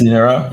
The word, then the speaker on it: Linera: Okay, so let's talk Linera. Am I pronouncing that correctly? Linera? That's the yes, Linera.